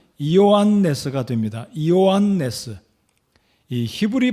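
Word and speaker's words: Ἰωάννης: 잔이라고도 하는데요이 요한의 헬라어 발음으로는 이요한 레스가 됩니다 이요한네스이 히브리 발음으로 히브리 이름으로는 요한안 또는 예호아 난이 되겠습니다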